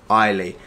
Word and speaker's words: Eileen: So I've just finished reading this letter, and it says in it that you pronounce her name Eileen.